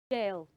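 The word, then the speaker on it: gaol: that word is pronounced jail g a o l is pronounced jail not g not go not go no not GA that word is pronounced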